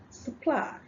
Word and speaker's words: supply: But the right pronunciation is supply.